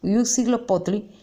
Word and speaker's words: Huitzilopochtli: bien cómo se llama, porque Yetu-Ujina en su pronunciación era el Huitzilopochtli, que era el dios conocido como el padre de los aztecas y era su principal dios, de los muchísimos que tenían.